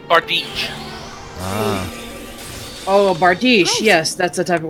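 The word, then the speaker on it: bardiche: me go ahead and do that and it's pronounced art Beach Oh bar dish yes that's the type of weapon - it's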